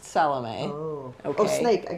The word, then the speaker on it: Salome: and her snake friend salom not salami not salami it's pronounced salom oh okay oh snake